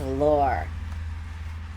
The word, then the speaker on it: Lore: This is pronounced as Lore. Like Data's twin brother.